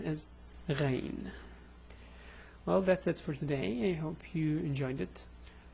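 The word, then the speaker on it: غين: And the name is Ghayn.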